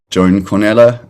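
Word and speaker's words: Joan Cornellà: think like the i think it's pronounced he's pronounced joan cornella um the more project um that he released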